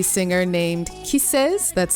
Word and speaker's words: KISSXS: on me by an r b singer named kises that's spelled k-i-s-s-x-s not with the name featuring rapper